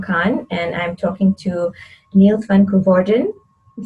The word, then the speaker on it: Niels van Koevorden: name is khan and i'm talking to niels van gorden i'm saying that right right the pronunciation yes that's correct okay perfect um yeah